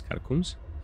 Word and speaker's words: catacomb: Catacombs? Catacombs? Catacomb. The BS is silent.